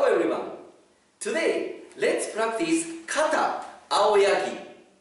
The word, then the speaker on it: 青柳: Today, let's practice kata aoyagi. Aoyagi, we write kanji like this. This is Japanese kanji aoyagi. But in other pronunciation, we call seiryu.